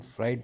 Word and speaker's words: Freud: बहुत लोगों को कन्फ्यूजन होता है कि ये सिगमंड फ्रूड पढ़ें, सिगमंड फ्राइड पढ़ें। तो दोस्तों, मैं बताना चाहता हूँ, जो इसका इंग्लिश प्रोनाउंसिएशन है, इसको सिगमंड फ्राइड के नाम से बोला जाएगा। इसको सिगमंड फ्रूड भी कुछ लोग बोलते हैं, जो कि कुछ हद तक सही है, लेकिन आप अगर सिगमंड